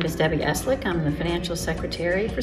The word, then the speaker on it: Esleeck: it's a tough one Eslick it's like slick with a e in the front Eslick okay tell me where